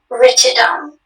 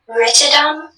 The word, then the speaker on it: ritidome: Ritidum? Ritidum. Am I pronouncing it correctly? Ritidum? Ritidum. Is it ritidum or ritidome? Ritidome. Can you repeat all the information, please? Yes, ritidome is the only pronunciation.